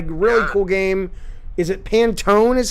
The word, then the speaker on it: Pantone: put out a really cool game is it pantone is how you say it yep based on